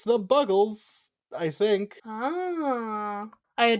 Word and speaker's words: Buggles: Which is a song by I keep forgetting if it's pronounced the Buggles or the Bugles. I think it's the Buggles. Is it?